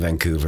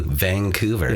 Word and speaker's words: Vancouver: I do that to Vancouver yeah where's the G there's no G that's how you know if somebody's from Vancouver is that's how they say it and I was I